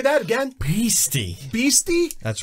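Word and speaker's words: bheestie: a i guess beasty say that again pasty beasty that's right i'll spell it for you what's the category weird words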